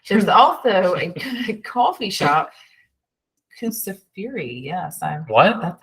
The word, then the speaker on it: Kusafiri: I mean, there's also a coffee shop, Kusafiri. Yes, What? that's how you say it. I'm learning. Show me again. That's a U. Yeah. Kusafiri.